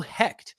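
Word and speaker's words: Hoecht: but the other guys Michael heck which I just realized is how you say his last name because I thought it was Michael Hoy you know who I'm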